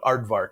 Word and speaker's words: Aardvark: name we called it aardvark advanced animation research development at rainbow the k is silent so we had just